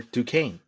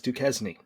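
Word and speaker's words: Duquesne: Yeah. For Dukane. Mhm. Uh for most of my life I thought it was Dukesny.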